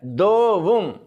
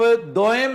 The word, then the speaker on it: دوم: بعد کہتے ہیں دوم۔ یہ غلط ہے، دوم۔ اب آپ دوئم نہیں کہیں گے، دوئم، دوم۔ یعنی اس کا تلفظ اس طرح ادا ہو رہا ہے جیسے 1 2 3 میں دو، لیکن یہ دو نہیں ہے، یہ دو ہے، جیسے دودھ میں دو بولتے ہیں۔ تو یہ جو لفظ